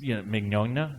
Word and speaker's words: Mignogna: Just Mignogna, such a funny guy, and you guys are all just cracking jokes, and I'm trying to take it seriously.